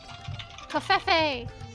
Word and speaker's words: covfefe: I mean, Covfefe! Oh my god, Bessa, we're gonna have to call one of the demon baristas a covfefe. Oh, yeah. It's pronounced Kofifi.